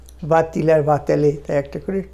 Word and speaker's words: va-t-il: এই va-t-il, va-t-elle কেন একটা টি এসেছে? ইলভাটা উল্টে ওই ভাওয়েল দিয়ে শেষ হচ্ছে বা, ইলটা শুরু হচ্ছে আবার তারপরে আবার একটা ভাওয়েল দিয়ে, সেই জন্য একটা টি দিলে উচ্চারণটা শুনতে ভালো হয়।